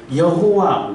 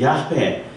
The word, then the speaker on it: 야훼: 그래서 여호와 그러니까 야훼 그게 조금 더 정확한 발음인데 그 네 글자를 세로로 세워서 쓰면은 사람 모양이 돼요.